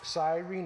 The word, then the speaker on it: Cyrene: bit about about Serena and the sirenians it's pronounced Cyrene II is located on the continent of Africa